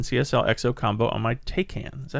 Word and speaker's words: Taycan: I did a correction in CSL XO combo on my Taycan. Is that how you say it? Taycan?